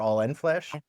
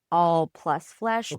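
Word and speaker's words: The All + Flesh: Do you pronounce it the all plus flesh or all end flesh? I let people do what they want. It is supposed to be the all plus flesh because it's the etmology of the word pancreas pen and crius.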